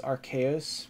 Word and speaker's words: Arceus: I know the official English pronunciation is Arceus, but I don't care. I'm gonna say Arceus until I die.